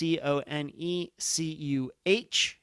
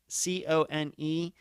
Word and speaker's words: Conecuh: I don't know if I'm pronouncing that correctly or not. That's Conecuh. Yes, Conecuh.